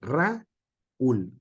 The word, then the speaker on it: Raúl: Exactamente lo mismo Raúl se no se puede pronunciar por sílabas Toda junta Raúl si no Raúl Por qué Porque el acento estamos acostumbrados nosotros de acuerdo al español en un en esa parte fuerte es la u Dale Entonces si estuviéramos